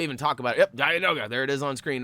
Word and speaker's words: Dianoga: Yep, Dianoga.